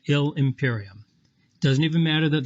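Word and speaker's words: illi imperium: starts with i so let's just cross out the i in illy put a little loopy thing to show that ill and imperium are going to be joined to make sound like one word we're going to pronounce that ill imperium it doesn't even matter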